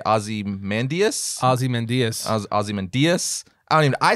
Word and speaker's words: Ozymandias: Ozymandias. Ozymandias. I say Ozymandias. That's what I say. Ozymandias. Because it's spelled O-Z-Y-M-A-N. It's also the way they pronounce it in the show.